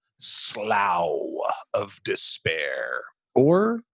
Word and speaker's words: Slough: threw me off is I looked it up and it said pronounce like s l o and then in parenthesis it said like cow so I was really I'm going with slow because maybe someplace SLO